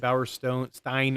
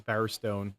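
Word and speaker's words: Bowerstone: That lady said Bower Stone Stein earlier and it's Bower Stone.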